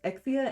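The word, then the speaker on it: Exusiai: I know that most people pronounce her name Exia and not Exusiae, but for fuck's sake, how is it not Exusiae? I know that the Japanese name is Exia, and they just translated to Exusiae for whatever the fuck reason.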